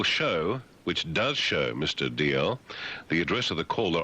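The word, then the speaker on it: Dalziel: Um, uh, Trevor DL D written D A L Z I E D L. It's pronounced DL. I bet you gets D Zal all the time.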